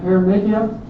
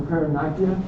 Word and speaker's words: paronychia: And then paronychia or paronychia, depending on your pronunciation.